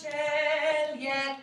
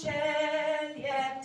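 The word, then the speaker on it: caeli et: Pleni sunt celiet terra. The li-et, that's divided into one syllable. So listen to that one more time. Pleni sunt celiet terra.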